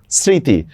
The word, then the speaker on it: স্মৃতি: স্মৃতি। ম ফলার উচ্চারণ হচ্ছে না। চন্দ্রবিন্দু দিচ্ছি।